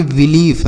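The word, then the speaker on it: belief: तो इसे हम पढ़ेंगे बिलीफ। क्या पढ़ेंगे? बिलीफ। ठीक है? इसे पढ़ेंगे बिलीफ। उसके बाद टी आई ई एल डी। इसे पढ़ेंगे टिल्ड। क्या पढ़ेंगे? टिल्ड। समझ में आया? तो आई ई रहे तो बड़ी की मात्रा।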